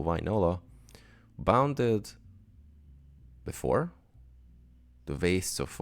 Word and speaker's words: Wainola: As far as I know, the Finnish has the same pronunciation as it's written, so Wainola.